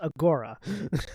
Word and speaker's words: agora: you can see here now that i do know is pronounced agora agora my apologies passes through the